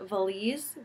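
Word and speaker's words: Valiz: society publishing house and they're actually called valise the a Li Zi that's how you pronounce it this one is arts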